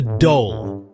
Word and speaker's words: dhole: The dole. Yeah, that's right. Not a typo. D H O L E. It rhymes with goal, but trust me, it's way more interesting than soccer.